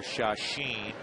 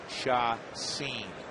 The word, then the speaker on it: Cueto: pronounce the other stuff it is pronounced shot scene s-e-e-n or s-c-e-n-e for those theater folks i know sometimes people hear sha-sheen it's shot scene cueto jumps away at